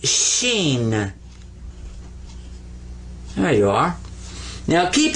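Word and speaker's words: شين: a regular s and this one is sheen there you are now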